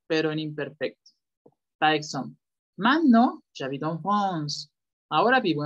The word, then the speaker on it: maintenant: ¿Puedes repetir otra vez la pronunciación de maintenant? ¿Cómo es? Maintenant. Maintenant. Pues, hay algunos que lo pronuncian men. Dicen men no. Men no. Entonces, men no sería. Men no. Por regla sería correcto men no.